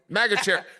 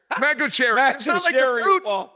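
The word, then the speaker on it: Magomedsharipov: that's a hard one Mago Cherry Mago Cherry not like fruit Cherry yeah megaera mag sha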